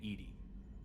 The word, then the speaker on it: EDI: airlock is a jar why are you named Ed Ed is the pronunciation of e di that is an acronym